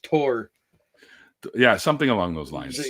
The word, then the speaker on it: Thor: names wrong by them I think Thor is actually pronounced tor yeah something along those